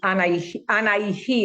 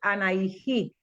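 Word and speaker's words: Anahí: Entonces, anaijí, aquí se escribe a N a h i y se lee anaijí, la flor del seivo.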